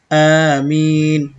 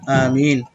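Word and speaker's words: آمين: গায়রিল মাগদুবি আলাইহিম ওয়ালা দলিন, আমিন, আমিন বলা যাবে না, আমিন আলিফে ওঠান আছে, মিমে ওঠান আছে, আমিন।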